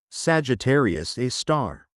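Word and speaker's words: Sagittarius A*: At the very heart of the Milky Way, about 27,000 light-years away, lies a monster named Sagittarius A, pronounced Sagittarius A star.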